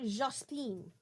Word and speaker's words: Jospin: So now they get the Prime Minister, Lionel Jospin, involved. And I'm pretty sure that's how his name is pronounced.